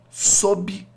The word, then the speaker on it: sob: pressão desenvolvida pelo magma sob, esse B é mudo, tá?